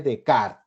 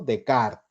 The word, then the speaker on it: Descartes: René Descartes o digamos pronunciado dicen adecuadamente René de Card no decart así se pronunciaría Descartes no auténticamente ahí están los años